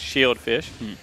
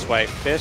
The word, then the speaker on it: Swaith: It's pronounced Sway Fish, so you lied to me, and apologies to the player.